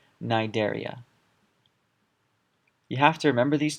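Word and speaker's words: Cnidaria: have plus phyla same idea here silence e nidaria you have to remember these two and you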